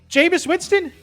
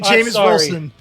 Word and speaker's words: Jameis Winston: You said his name wrong again. I said let me finish. You said the name wrong. Jameis Winston? You said Wilson. I said, I'm getting tongue-tied then. You said Jameis Wilson.